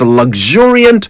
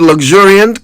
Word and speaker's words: luxuriant: Poirot absent-mindedly twirled the end of his luxuriant mustache. Anyway, the word luxuriant can be traced back to the Latin word luxuriare, which means to grow profusely or to have in excess.